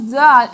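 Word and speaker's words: ذال: The pronunciation of zal is same as sa. While pronouncing za, touch the tip of the tongue to the edge of the upper teeth and blow with a light sound, same as sa. Zal, za, za.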